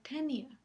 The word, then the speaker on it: tenia: No, en el caso de tenia, la i no lleva tilde y entonces sabemos que forma un diptongo con la siguiente A, lo cual